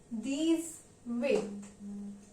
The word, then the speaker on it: dix-huit: Likewise 18 will be pronounced in French as deez-weet.